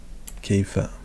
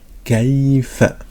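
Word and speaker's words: كيف: Donc là, il y a une soukoun qui est, voilà, donc Kaifa. Donc le K qui s'écrit comme ça lorsqu'il est au début, le Ya, donc de cette manière lorsqu'il est au milieu, et le Fa.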